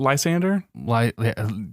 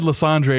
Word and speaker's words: Lysander: like trying to like you mean l was it Lysander sure liander you said LeAndre and I'm picturing the